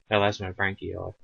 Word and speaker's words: Elasmobranchii: And it's branchii, actually. Elasmobranchii. Double I.